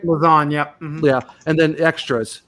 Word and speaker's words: Lauzon: Am I pronouncing that last name right? Lauzon, yep.